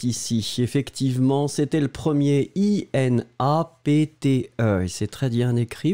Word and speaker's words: inapte: Le premier, inapte, d'accord, et le deuxième, inepte. Inapte, inepte. Et voilà, donc là c'était bien, il n'y avait pas de, problème.